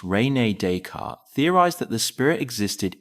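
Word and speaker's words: René Descartes: French philosopher Rene Deart, pronounced Renee Decart, theorized that the spirit existed independently of the physical form, a belief shared by many religions.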